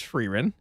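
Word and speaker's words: Frieren: Um, but I did figure out how to pronounce her name. It is Ferin, and that's a great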